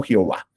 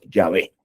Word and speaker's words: Yahvé: que soy finalmente yé como se escribe y se dice yahvé no Jehová sino yahvé yahvé yo soy el